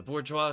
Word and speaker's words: bourgeois: it's like bourgeois? Or, I forget how to pronounce the French word.